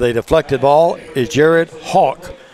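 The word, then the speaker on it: Hoch: With a deflected ball is Jared Hawk. He spells it H-O-C-H, but he pronounces it like you're flying, a hawk.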